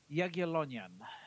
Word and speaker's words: Jagiellonian: I went to college in Poland, university, Jagiellonian University, and I was How do you sitting pronounce at that? Jagiellonian.